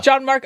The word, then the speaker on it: Gianmarco: Yeah, it's 3 syllables. Yeah. Gianmarco.